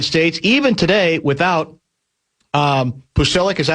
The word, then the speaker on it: Pulisic: All good so far for the United States even today without um Pulisic, is that how you pronounce the name? Pulisic.